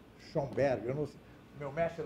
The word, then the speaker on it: Schoenberg: Se escreve assim, ó. Schoenberg, eu não sei.